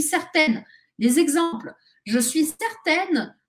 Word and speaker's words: certaine: je suis certaine que attention la différence de prononciation je suis certain je suis certaine les exemples je suis